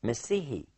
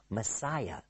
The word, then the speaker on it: Messiah: in the Old Testament, Messihi, which we as English speakers usually mispronounce and we say Messiah. But in fact, it is Messihi.